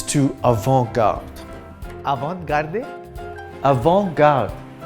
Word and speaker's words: avant-garde: evoke out avant-garde a avant-garde in French the last letter in most words is silent in this case the T and the e I like in Frank